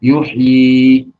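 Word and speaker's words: يُحْيِي: Maka wakafnya dia yang kedua, panjang, yuhyi, walaupun di situ tidak tercantum ya yang kedua.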